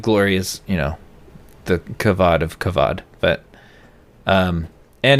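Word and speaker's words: כבוד: That is the word that is used in the Bible is kavod, pronounced with a V, has a B, and it also means weight.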